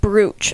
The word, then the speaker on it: brooch: It's pronounced brooch.